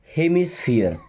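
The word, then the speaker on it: hemisphere: ज्यादा तोड़ना नहीं पड़ता एच एच ई हे एम आई मी हे मी एस से आधा स पी एच फियर क्या बन जाएगा हियर होता है ना हियर तो स्फीयर हो जाएगा हेमिस्फीयर क्या बन गया हेमिस्फीयर okay then A डी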